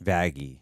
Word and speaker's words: Vaggie: Well, what is it? Vaggie or Vaggie? Vaggie. Vaggie. Yeah. Hard G.